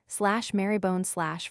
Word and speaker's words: Marylebone: The English have a great number of such decayed pronunciations, e.g. Magdalen for /Magdalen College/ sister for /Sirensister/ /Marybone/ for /Marylebone/.